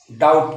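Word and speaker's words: doubt: भी को पढ़ेंगे तो बी का उच्चारण बी नहीं करेंगे ध्यान दीजिएगा लिए देखते हैं कैसे आपने नाम सुना होगा डाउट का क्योंकि पेमेंट डाउट हो रहा है डाउट फ्रेंड्स देखिए दी ओ यू बी टी दी ओ यू बी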